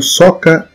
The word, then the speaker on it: zoca: Uma curiosidade também é sobre o santo que apareceu numa zoca. Em primeiro lugar, vamos entender o que é zoca, né, gente? Zoca ou soca na pronúncia portuguesa, mais conhecido como tamanco, que é aquele sapato feito em madeira.